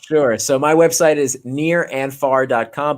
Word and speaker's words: Nir: so my website is near and far dot com but near is spelled like my first name so that's n i